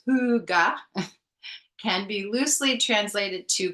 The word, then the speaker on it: Hygge: Hygge, pronounced huga, can be loosely translated to cozy contentment and relates to a subtle but perceptive ambience or quality of coziness.